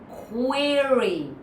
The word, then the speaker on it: query: Don't just say quir. That doesn't work. Query or query. But do say it. At least your c is clear. Your ro is clear. Your e is clear.